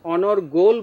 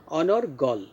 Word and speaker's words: অনর্গল: এখানে সব অনর এবং গল, গলের শেষে কিন্তু অ আছে, এটা এখানে আমরা ও উচ্চারণ করব না, অর্থাৎ অনর্গল বলবো না, অনর্গল।